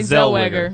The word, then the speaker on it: Zellweger: Renee Zellweger.